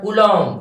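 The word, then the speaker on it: Coulomb: unit क्या होता है कूलम क्या कूलम बी साइलेंट रहता है कूलम और इसे अपन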